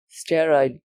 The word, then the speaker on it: sterile: actually found out was it is the word sterile not the sterile which means free from the bacteria the